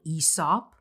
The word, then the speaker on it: Aesop: That's how you pronounce it, guys. Aesop. I thought it was Aesop personally. personally. I'm still going to say Aesop. I'm sorry. Me too. Honestly, Aesop just does not sound right.